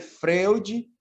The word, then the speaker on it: Freud: Se escreve Freud, mas se lê Freud, freudiana, e se escreve freudiana.